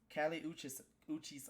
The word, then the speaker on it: Kali Uchis: The first album that I want to talk about is Kali Uchis album.